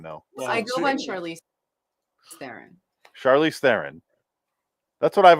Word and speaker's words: Theron: it's the simplest but it's the real pronunciation pronunciation of my last name is throne which is really hard throne throne game of thrones french guy can't say